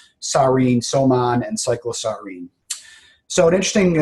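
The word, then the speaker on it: soman: wmd Medicine you you now have the proper pronunciation so it's tabon sarin somon and cyclosarin so an interesting uh question uh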